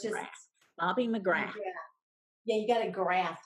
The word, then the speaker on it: McGrath: It's Bobbie McGrath. So it's just Bobbie McGrath. McGrath.